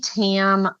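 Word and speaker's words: qui tam: Texas is through something called a kam lawsuit and it's spelled qui and uh the sometimes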